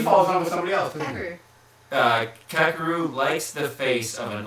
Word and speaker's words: Kakeru: I can't pronounce it. Kakeru? Kakeru, yeah.